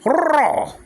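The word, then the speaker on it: rho: Don't say ro. That's lazy for the Greeks. It's lazy. Don't say ro. Say ro. Like that.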